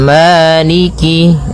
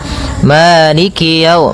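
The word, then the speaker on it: مالك: Kemudian kaf di sini ada huruf kasrahnya maka sempurnakan kafnya jangan seakan-akan diputus. Misalnya Malik yau, Malikyau. Ah, jadi kemudian kasrahnya juga disempurnakan. Jangan sampai dibaca dengan e, tapi dia I.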